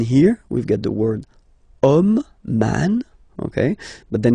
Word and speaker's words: homme: And then here, we've got the word homme, man, okay? But then it starts with H, as in French, H is not pronounced, so the first sound that we hear is O, okay, and then it will follow the same rule.